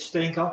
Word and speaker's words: Steenkamp: So it's my distinct honor and pleasure to welcome Jan Benedict Steenkamp, and I'll use the Dutch pronunciation, as a new fellow of AMA.